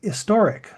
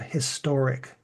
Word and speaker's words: historic: be swallowed but now we are more clearly pronouncing the H of historic So when you say